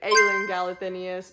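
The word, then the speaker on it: Aelin Galathynius: I know that it's supposed to be pronounced, I believe, Aelin Galathinius, but I call her Alien, and Rysand is supposed to be Reeson.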